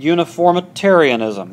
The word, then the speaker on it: uniformitarianism: Okay, now contrast that with a doctrine called uniformitarianism. Uniformitarianism, that's a fancy nine-syllable word. Say that. Uniformitarianism.